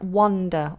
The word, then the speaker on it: wonder: How do you pronounce wonder? Wonder. Wonder. I wonder. I wander alone in the woods. I wonder. It's that like up and above. It's the upside down V.